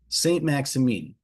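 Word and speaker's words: Saint-Maximin: south of France in a little village called St. Maxamine. And I'm going to spell that for you. Saint M Axi M I N. St. Maximine.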